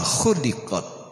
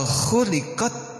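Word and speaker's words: خُلِقَتْ: wa Ilal IBL Kaifa khuliqot kalau khuliqat diciptakan tapi kalau khuliqot dipotong khuliqot khuliqot n Bitu makna mun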